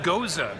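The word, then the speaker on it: Gose: River goes ax matt is pronounced Gaza Gaza bozhe Gaza is like it's kind of a wheat beer apparently oh that's nice I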